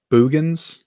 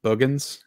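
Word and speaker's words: Boogens: And I think somebody said, say it like booger. So it's like Boogans.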